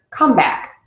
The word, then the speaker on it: comeback: confusing to ESL learners if you use the word comeback then you are going to stress the second word so if you want someone to come back those will be the same but if someone has a comeback then that second word is stressed because that's making a